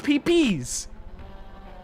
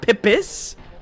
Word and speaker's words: Pipis: It It's literally pee pe. It's pi. Pi with an s. So it's pps, not pippis.